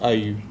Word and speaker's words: Ayüü: um yes yeah and it's pronounced are you um where are you